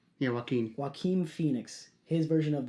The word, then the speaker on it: Joaquin: his name uh i keep i keep i mispronounce his name a lot joaquin is that his name yeah joaquin joaquin phoenix his version of the joker every